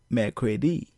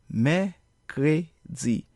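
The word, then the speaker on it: mèkredi: probably pronounce this as make ready but a more appropriate pronunciation is Mei cray-z notice how the letter air or R comes from the throat and how the last syllable is pronounced as Z so Mei cray-z so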